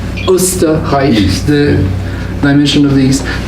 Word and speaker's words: Österreich: Incidentally, Taco was from Austria, which in German is pronounced as Österreich, the dimension of the East.